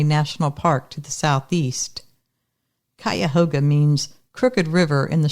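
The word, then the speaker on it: Cuyahoga: Park to the southeast kayoga means Crooked River in the shauni language whether or not it's actually pronounced this way we say kayoga in 1987 John was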